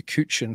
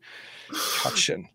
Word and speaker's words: Cutchin: And that's why, again, apologies for calling you Cutchin for about the last 2 years. I finally got it right. Cutchin.